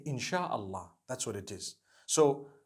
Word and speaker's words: In shaa Allah: No it doesn't because inshallah means if Allah wills. Inshallah. We all say it together inshallah. Inshallah. But we know in the Arabic it's three separate words.